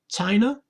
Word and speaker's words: China: Then we've got the stress is on the first syllable, China, China, and the t is first consonant here.